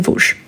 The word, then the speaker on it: Vosges: Attention, Vosges, on écrit Vosges, mais on ne prononce ni le S ici, ni le S à la fin. Place des Vosges.